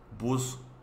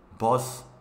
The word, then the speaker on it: bus: No es bus, es bus, bus, Shinebus, Shinebus, autobús urbano, Shinebus, Shinebus, así es como se escribe y así es como pronuncia. Bus es lo mismo, así se escribe también, bueno. Así es como pronuncia, como inglés, bus.